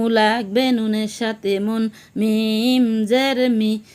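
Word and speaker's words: ميم: লাঠির মতো দেখা যায় তার নাম মিম, তার নাম মিম।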